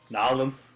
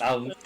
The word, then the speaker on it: New Orleans: Nolans. You pronounce it as though it were spelled Gnawlons. Nolans.